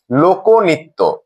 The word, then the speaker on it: লোকনৃত্য: আমরা একটি উদাহরণ দিয়ে দেখছি, লোকনৃত্য। এই শব্দটি উচ্চারণের সময় যেহেতু ক ধ্বনিটির সাথে অকার রয়েছে এবং এর পরের ধ্বনি ন এর সাথে রিকার রয়েছে, তাহলে নিয়ম অনুযায়ী এর উচ্চারণটি হয়ে যাবে লোকনৃত্য।